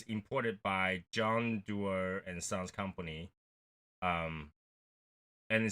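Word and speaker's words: Dewar's: So, we got this, I believe it's pronounced Dewar. D-E-W-A-R.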